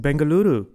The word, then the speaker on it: Bengaluru: to be here and very well done on pronouncing bangaluru I didn't roll the r how are things in